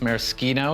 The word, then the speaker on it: Maraschino: It's spelled the same as the neon cherries for children, but it's by the rules of Italian pronunciation, it's maraschino.